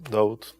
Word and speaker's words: Daud: Just I changed the pronunciation, David to Daud.